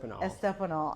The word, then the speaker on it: Estopinal: don't want to mess it up it's estol estanol okay all right just tell me a little